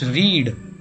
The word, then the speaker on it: read: ಅದಕ್ಕೆ ನಾವು ಇಂಗ್ಲೀಷ್ನಲ್ಲಿ ರೀಡ್ ಅನ್ನೋದಕ್ಕೆ ಪಾಸ್ಟ್ ಟೆನ್ಸ್ ಮಾಡುವಾಗ ರೀಡ್ ಅನ್ನೋದು ಪಾಸ್ಟ್ ಟೆನ್ಸು ಕೂಡ READ ಬರುತ್ತೆ, ಬಟ್ ಉಚ್ಚಾರಣೆ ಬೇರೆ. Present ಟೆನ್ಸ್ನ ರೀಡ್ನ present tens REED ರೀಡ್ನ past tens READ ಬರುತ್ತೆ, ಆದರೆ ರೆಡ್ ಅಂತ ಓದಬೇಕು.